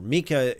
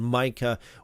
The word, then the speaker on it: Micah: However, Mika is typical Hebrew pronunciation. Micah would be the English way of pronouncing it.